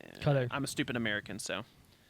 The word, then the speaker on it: Qatar: I know I pronounced that the stupid American way for Qatar, but Qatar.